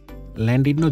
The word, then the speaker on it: Llandudno: ইংলিশে লেখা বাট ওয়েলসের ভাষায় তারা ল্যান্ডিডনো কে উচ্চারণ করেন ল্যান্ডিডনো জংশন থেকে আমরা এখন যাব কনওয়ে ক্যাসেলে আমরা